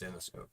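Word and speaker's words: Zenescope: I say it's Zenoscope. Zenoscope. Because I always put a space between Zen and E and scope.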